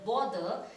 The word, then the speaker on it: bother: t h is both but when it is placed in the word bother then it is pronounced like bother it is not bother both b o t